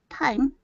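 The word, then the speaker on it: thyme: answered sir looked confused time like a watch till the time grammar smart it is spelled t-h-y-m-e but it does sound like that i think it's good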